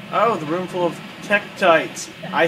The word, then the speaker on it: tektites: Oh, the room full of tektites. I said it right, guys. I said it right. It's tektites and there's a giant boulder.